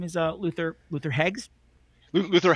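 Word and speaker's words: Heggs: is uh Luther Luther hegs Luther hegs h e g GS yeah Luther hegs and hegs rhymes with segs and segs is Facebook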